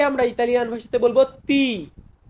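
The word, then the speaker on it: ti: টি টি টি কে আমরা ইতালিয়ান ভাষাতে বলবো তি তি এর পরবর্তীতে কি আছে উ মানে আমরা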